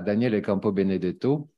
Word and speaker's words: Daniele Campo Benedetto: Et nous avons le plaisir, nous aurons cet après-midi une communication à Daniele Campo Benedetto, je prononce à la française pour qu'on comprenne mieux, de Turin, du Polytechnico